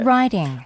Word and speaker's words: riding: 발음이 어떻게 돼요? Riding. riding. 약간 R 발음이 나죠. D가 R로 바뀌어서 나는 거고요. T는 이 영국식은 어떨까요? Riding. riding. 맞죠. D 발음이 조금 나죠? Riding. 그런 차이가 있습니다.